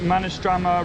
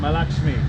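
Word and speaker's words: Mahalaxmi: Is it Manistrama Racecourse? No. How do you say it? Manistrama? Racecourse. Malakshmi. There we go. This is Malakshmi Racecourse.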